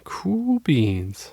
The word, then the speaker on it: Cool Beans: Cool beans. It is, and it's spelled the cool way, not COOL. It's spelled KUHL.